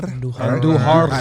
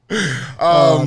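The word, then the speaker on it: Andújar: And first of all, make sure you roll your R's when you say Andujar. Andujar. Miguel Andujar. Yeah. Andujar.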